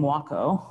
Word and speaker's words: Wakoh: characters that make up the name Wakoh. It rhymes with taco. That's how to pronounce it.